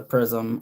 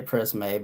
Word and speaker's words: Prisme: So, this is the imperial obviously from the prism or prisme, but it's spelled with an e, so I'm just going to say prisme, but it's shaped like a prism, I guess.